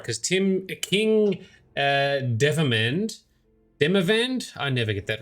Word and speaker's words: Demavend: While admittedly putting more effort into the latter, after Demavend, that's how you say it, after Demavend's demise, pretenders to the crown sprang up like mushrooms.